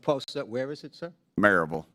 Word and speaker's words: Maryville: In my district, the Maryville office, I felt like they needed a significant overhaul.